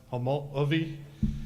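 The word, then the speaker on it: Homolovi: Traditionally in Hopi, it would be pronounced Homology.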